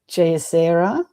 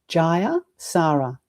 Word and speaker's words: Jayasara: I can't even say my name cuz some people say Jaser and then I've heard someone say Jaser. So my name is I'll try and pronounce my name correctly. Ja Sara. Four syllables.